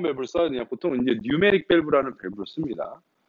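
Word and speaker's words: pneumatic: 보통 이제 뉴메릭 밸브라는 밸브를 씁니다. 그 뉴메릭이 P가 묵음입니다. 노후에서 K가 묵음인 것처럼, 슈도 사이언스에서 P가 묵음인 것처럼, 뉴메릭 밸브, 뉴메릭이라는 뜻이 공합이라는 뜻이에요.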